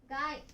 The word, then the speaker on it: 貝: Nó có thể được đọc là "kai" hoặc "gai".